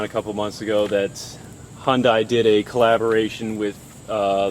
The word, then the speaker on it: Hyundai: anyone makes a comment it is Hyundai all right the E is silent I know Korean people